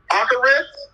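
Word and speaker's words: אחרית: That word latter right there, H3:19, it is pronounced Acharis, Acharis, and it means the last or end.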